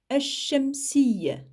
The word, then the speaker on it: ash-shamsiyya: Donc ici, pour al-huruf, il y a une prononciation claire du lem. On l'entend. Al-huruf. Al-huruf. Alors que pour le mot qui suit, ash-shamsiyya, le pauvre, on l'a complètement zappé. Ash-shamsiyya, on ne l'entend absolument pas du tout, mais son écriture est obligatoire.